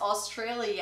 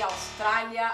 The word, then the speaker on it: Australia: And one of them is Australia. And be careful, because we don't say Australia, Australia. No, Australia, Australia.